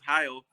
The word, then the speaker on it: Heil: Oh, Heil.